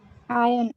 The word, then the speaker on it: iron: Iron. This is iron. We call it iron, and we do not pronounce which letter is silent here. This R is silent.